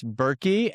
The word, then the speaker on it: Buhrke: That's Buhrke, and there is a silent H in the middle.